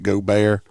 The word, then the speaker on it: Gaubert: was a short one now it's pronounced go bear but uh they're not